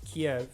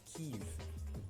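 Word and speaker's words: Kyiv: were destroyed at uh formerly known as Kiev under the Soviet Union but nowadays um the capital city of Ukraine is known as keev pronunciation is slightly different there three armies 26th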